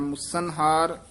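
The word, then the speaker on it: ਮੁਸਨਹਾਰ: मुसन हार मुसन हार एक कसके उच्चारण करना है मुसन हार पंच बटवारे मुसन हार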